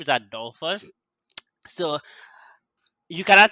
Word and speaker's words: Adolphus: relationship from there i am my name is adolfo's so you cannot say call me also